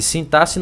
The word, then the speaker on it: sintaxe: Sintaxe não é sintaxe, não, viu, meu povo? É assim que se fala, ó. Sintaxe, tá? Sintaxe, é meio que a pronúncia é como se fosse com dois S.